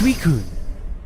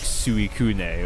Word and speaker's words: Suicune: it said out loud, I absolutely pronounced it like Suikune or something like that. And the very first time I heard it out loud, I was like, oh, no, I'm an idiot.